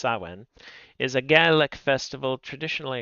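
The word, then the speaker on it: Samhain: Sawin. Approximately pronounced sawen is a ga festival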